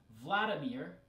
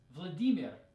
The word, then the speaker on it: Vladimir: better glide DB right this one sounds a lot different than in English in English it's Vladimir but in Russian it's Vladimir Vladimir and the short form